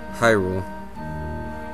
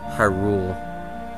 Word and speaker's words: Hyrule: lots of controversy too hyrule i've heard it so many times pronounced as hyrule or something i really do not believe that the the accent goes on rule and not just because